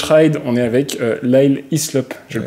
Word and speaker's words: Hyslop: On est avec Lyle Hislop. Je le prononce bien, hein?